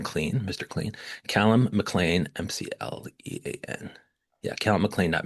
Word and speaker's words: McLean: I'm Brian Cop and we're with critic Kellum Mlan.